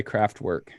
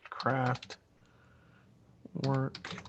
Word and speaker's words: Kraftwerk: were um craft work it's loosely craft work and I immediately started thinking about like DIY would make for woodworking and things like that yeah it says crack work and it's spelled KR aft wer K and they were like